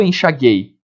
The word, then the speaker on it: enxaguei: Eu não falo enxaguei. Guei. O U é pronunciado.